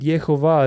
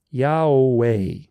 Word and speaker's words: Yahweh: It's an inversion of the actual pronunciation of God's name, because God's name is Yahweh. Yahweh. So the vowels, it's all vowels, it goes A-U-A, right? So it goes A-U-A, Yahweh. The Jewish rabbinic tradition is backwards. Yehovah, Yehovah. Do you see the inversion? It's exactly pronounced opposite of the truth.